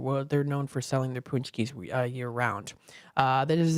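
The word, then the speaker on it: pączki: delicious it's spelled like pki almost but it's pronounced punchki so give it a try if you never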